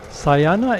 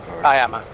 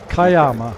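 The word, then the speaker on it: Cuyama: Okay, so today we are in uh the state Santa Barbara County at new um Syana if that's the correct pronunciation.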